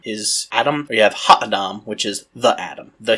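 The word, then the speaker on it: הָ: is to look for the definite article in Hebrew, the word the. It's pronounced ha. So you have Adam is Adam, or you have Ha-Adam, which is the Adam, the human.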